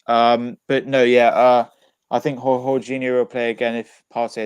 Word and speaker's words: Jorginho: I think Jorginho will play again if Partey isn't fit, and Shakhtar. Wait. Say his name again. Jorginho. Is it Jorginho or Jorginho?